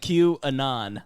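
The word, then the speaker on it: QAnon: ] is C Ron so how you pronounce it Q Anon like Anonymous what you know I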